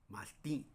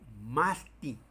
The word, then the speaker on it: mastí: En mi variante sí decimos así, más ti, que en este ejemplo no es una palabra grave, sino es una aguda por su acentuación es aguda. Sí, más. Si yo digo Martín, tengo que poner el acento. Sí, ahí sí obligadamente debo de acentuar porque si no voy a leer como masti.